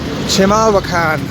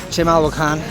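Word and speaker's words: Chimalhuacán: Chimalhuacan, I think that's the correct pronunciation.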